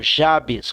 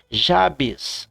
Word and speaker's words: Jabes: se chama chama Jabes eu não gosto de pronunciar esse nome eu gosto de pronunciar em espanhol Jabes como eu conheço o idioma espanhol e em espanhol termina com s Jabes assim Jabes permita me